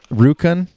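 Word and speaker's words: Rjukan: so are you that's a rukan is that how you pronounce it that's that's correct so it's uh it's uh very close to yukon which is uh which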